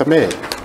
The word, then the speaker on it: Ahmed: It's not Ahmad, it's Ahmed. A-H-M-E-D.